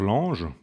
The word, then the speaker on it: Lange: Albert Lange, ou Lange, si on le prononce à l'allemande, qui écrit une histoire